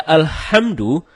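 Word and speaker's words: الحمد لله: ketika membaca alhamdulillahirobbilalamin ada membaca alhamdulillah tidak menggunakan hak dalam kerongkongan kalau kita membaca alhamdulillah dengan head dalam kerongkongan ya artinya segala puji bagi Allah dan sebaliknya kita baca alhamdulillah alhamdulillah bukan tenggorokan maka artinya segala kematian jauh berbeda begitu juga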